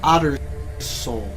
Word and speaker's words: Otterssoul: It's pronounced Otterssoul. 2 S's.